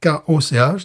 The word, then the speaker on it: Koch: Stone Brewing Company, créée par Greg Koch, si tu parles en anglaise, ou Koch, si tu parles en allemande. Ça s'écrit comment? K-O-C-H.